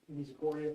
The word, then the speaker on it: Misericordia: I'm sorry, I don't know how to pronounce this last one. Misericordia, thank you.